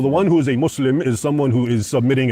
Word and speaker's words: Muslim: you know I unfortunately I always end up pronouncing things like an American it's not Islam um it's Islam and it's not mus it's not Muslim it's Muslim and the two words are